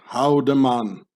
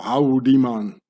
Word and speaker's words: Haldeman: In the Bernese Swiss-German dialect, where the Emmental lays in, the name Haldeman gets pronounced Houdeman, meaning, or Houdeman, meaning how den man,